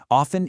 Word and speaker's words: often: Often is usually pronounced with a silent T as often.